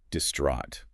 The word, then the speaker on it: distraught: store yeah and again pronunciation is key here distraught that long sound it's a word that really requires a certain emotional weight in its delivery yeah you have to